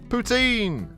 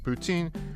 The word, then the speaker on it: poutine: flavor maple mousse meat poutine ah the old canadian salad sure is something tasty to poutine your mouth for anyone who is unaware the french canadian pronunciation close to putin makes this joke work